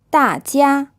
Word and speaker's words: 大家: 大家 This is a fourth tone, then a first tone. This means everybody.